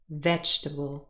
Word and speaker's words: vegetable: is not correct yeah the second e is not represented by a sound and the pronunciation is vegetable stress on the first syllable and really those two